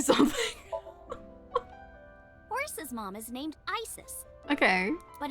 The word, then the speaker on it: Isis: Horus's mom is named Isis. Okay. But in ancient Egyptian, it's pronounced closer to iset or aset.